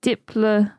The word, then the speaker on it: Diplodocus: If following the Greek rules, the correct pronunciation should be Diplodocus with a soft O to rhyme with Liplodocus. Oh, Diplodocus then.